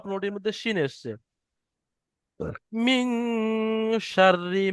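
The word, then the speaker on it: شَرِّ: মিন শাররি মা খলাক। মিম নুন জের মিন। শিন রা জবর শার রা জের রি।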